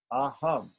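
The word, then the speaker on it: अहम्: So the syllables for aham are a and hum. Aham, right?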